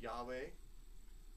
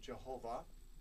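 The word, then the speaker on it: YHWH: could be alternative and when you add certain vowels to these this word can be pronounced Yahweh or Jehovah or or differently still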